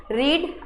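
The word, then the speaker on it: read: अब देखिएगा कि जब रीड आता है तो उसको सेकंड फॉर्म और थर्ड फॉर्म में क्या पढ़ते हैं, रेड पढ़ते हैं। क्या पढ़ते हैं, इसमें रेड पढ़ा जाता है। प्रोनाउंसिएशन रेड होगा, लेकिन स्पेलिंग तो रीड की ही है, पर प्रोनाउंसिएशन हम क्या कहेंगे, रेड, रीड, रेड, रेड।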